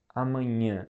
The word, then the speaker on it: amanhã: So it's a very specific sound like amanhã. And amanhã is a word that means tomorrow. But this sound is very specific. So you just gotta kind of learn how to say it and keep trying, and at some point you're gonna be able to speak it.